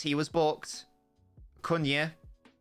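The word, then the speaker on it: Acuña: Cunha. And the commentator affirming that is how you pronounce it.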